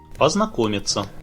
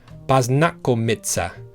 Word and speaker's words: познакомиться: Познакомиться.